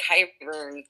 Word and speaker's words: Qyburn: it wouldn't it be more interesting rather than kai burn being an agent of Oberyn and Duran and qyburn is spelled q y b u r n no